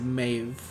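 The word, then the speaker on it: Medb: Maeve met him as she spelled in the game ME ME DB but you bill you pronounce it Maeve anyway she killed all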